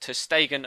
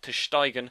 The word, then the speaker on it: ter Stegen: I'm actually reliably informed by friend Channy Sports that it's actually pronounced ter Stegen and not ter Steigen, as I was previously doing it.